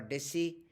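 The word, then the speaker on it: Disse: Some people pronounce it Dis or Dissi. I saw on the YouTube also both the pronunciation are present, but he was a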